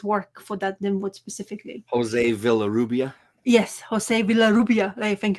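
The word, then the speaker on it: José Villarrubia: So, apparently they showing exclusive images from what the V I can't pronounce his surname. The guy who remastered his work for that Limwood specifically. Jose Villa Rubia.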